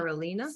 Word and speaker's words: spirulina: Spirulina.